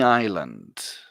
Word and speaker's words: island: example like you don't you don't pronounce the s with this word repeat after me one